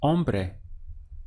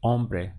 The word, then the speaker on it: hombre: man in Spanish is hombre notice that you start your pronunciation from the all so be hombre because always in Spanish this H is silent it's written in the spelling but not actually pronounced so we have on